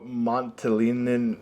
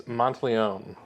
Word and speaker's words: Monteleone: Montalinin. And then, Do you want to try that again? It's Monteleone. Is that Monteleone?